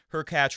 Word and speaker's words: Hurkacz: Her catch rhymes with latch, will very likely beat Puig, in my opinion.